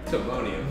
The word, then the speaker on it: Timonium: I'm saying and then Timonium Timonium there's the proper pronunciation I was like is it Tim Timonium guys so in the challenge